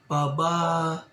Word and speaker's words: pababain: Pababain. Pababain. Pababain. Pababain. It should have been pababain.